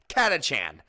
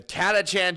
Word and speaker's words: Catachan: that way I'm sorry I always pronounced it and heard it said as katchan so that's how I'm going to say it the catachan jungle Fighters these guys